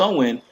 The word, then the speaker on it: Samhain: the Celtic celebration of Samhain pronounced Owen and held October 31st